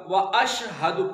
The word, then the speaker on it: وَأَشْهَدُ: پھر وہی ریپیٹ ہوگا وَأَشْهَدُ، پہلے ہم جو بتا چکے ہیں کہ اشہد لفظ غلط ہے، وَأَشْهَدُ أَنَّ وَأَشْهَدُ أَنَّ